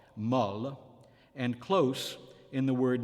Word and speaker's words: molle: O is open in the feminine adjective meaning soft, molle, and close in the word meaning word, mot.